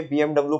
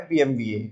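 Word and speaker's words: BMW: अब तुम इसे पढ़ते होंगे बीएमडब्ल्यू पढ़ते होंगे, है ना, लेकिन इसका जो प्रोनाउंसिएशन है वो है बीएमवीए।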